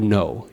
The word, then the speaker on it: know: So Jñā is the same word as Kno, or know, in the English language. The K we say is silent, but we still preserve it when we actually write it down.